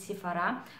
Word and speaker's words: Sephora: впечатления от бренда sephora да именно правильно произносить si fara что он не режет слух это же непривычно но